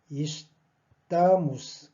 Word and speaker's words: estamos: 그리고 악센트 위치도 당연하게 estamos. 그죠? 따의 악센트 있게 되죠. 그러므로 이것도 우로 발음됩니다. estamos. 그리고 이것도 악센트의 그 위치가 아한테 뺏기는 관계로 이것도 이로 발음이 되죠. 그래서 estamos.